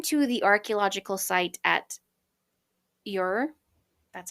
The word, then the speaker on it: Ur: So, a chance dinner party conversation persuaded Agatha to travel to Baghdad and then to the archaeological site at Ur, that's how you pronounce that, where she became really good friends with the Woolies who ran the dig.